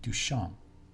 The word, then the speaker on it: Duchamp: In French, you don't pronounce the P, Duchamp.